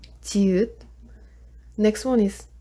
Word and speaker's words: 지읒: For next one, 지읒, it sounds like J. 지읒.